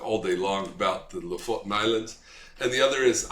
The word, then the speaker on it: Lofoten: It's called if you pronounce it with the correct accent, the Lofoten Islands. It's spelled Lofoten in the north of Norway.